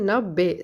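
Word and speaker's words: ନବେ: 90ன்றது நப்பே சொல்லணும். அதாவது நப் இப்பு வரணும்.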